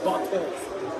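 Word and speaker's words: Barthés: But how do you pronounce it? Butt. Which language is it? think it's French. It's French.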